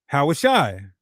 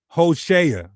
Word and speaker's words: Hoshea: Yahawashi. Yahawashi. And this is where you die. This is where you die. In a fun way, y'all. We're just having fun. The proper biblical Hebrew would be pronounced Hoshea.